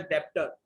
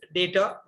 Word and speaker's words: debtor: Don't please pronounce as डेप्टर, इट्स डेटर, creditor.